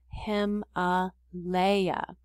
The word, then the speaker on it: Himalaya: again guys they helped us out with this pronunciation of the word him a leia so that gives us an idea of how